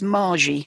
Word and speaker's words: Marzi: It's not Marzi, it's Margie. I always get her name wrong. It's spelt Marzi, but pronounced Margie.